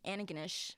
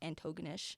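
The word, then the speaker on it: Antigonish: which is saint francis xavier whatever it's in anaganesh which is how it's pronounced not antogonish it's a what that's where it's located like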